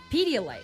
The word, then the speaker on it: Pedialyte: Pedialyte. Okay. Did I say it wrong? No, that's right. I wanted to make sure that people know the product. Oh, okay. Pedialyte.